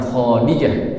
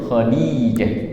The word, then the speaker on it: Khadijah: Fatimah sendiri anak Rasulullah dari Sayyidah Khadijah, bukan Khadijah, Khadijah. Jadi D-nya yang panjang.